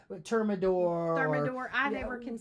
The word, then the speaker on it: Thermador: to ask my wife, 1099 or something like Thermador. I never can say it right. It's Thermador.